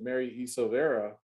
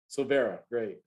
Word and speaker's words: Silvera: e silvera so oh let me let me make sure i'm saying that right you got it right did i say it right the first time so very yes you did okay i thought maybe it was silver silver era or something like that so i just silvera great um the crew